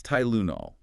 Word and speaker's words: Tylenol: Tylenol versus benadrol. Good comparison. In Tylenol, the Y represents a long I sound like in Thai. So, it's Tylenol. Notice the schwah in the unstressed second syllable, right?